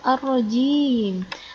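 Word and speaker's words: الرَّجِيم: Baik, kemudian yang selanjutnya di sini ada ar-rajim. Apanya yang biasanya keliru di sini? Biasanya ada juga orang yang menyebutnya bukan ar-rajim, tapi melafalkannya dengan ar-rajim. Seperti yang betul, tapi salah karena harusnya jim, bukan zim.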